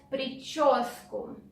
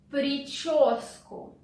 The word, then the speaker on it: прическу: The next phrase is do your hair, or in Russian, делать прическу. Делать прическу. Sound ch is difficult, pay attention to it.